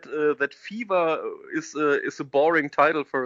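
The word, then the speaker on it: F.E.V.E.R: fever which came out i don't know whether to pronounce it as fever or f dot e dot and how do you pronounce this i say fever yeah like like fever yeah because there are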